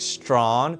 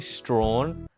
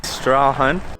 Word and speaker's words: Strahan: I was pronouncing it Strahan, but it's actually Strahan. Strahan.